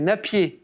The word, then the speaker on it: Napier: C'est Napier ou, Ah non, je ou savais pas. Népère. Les deux, Népère, ah oui. ouais, Oui, oui. les deux prononciations sont acceptées.